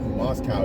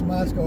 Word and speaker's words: Moscow: say oh we're in we're in Moscow or like and those who live there is like no no no it's not Moscow here it's it's Moscow is in Russia. Moscow is in Russia. Moscow is in Idaho.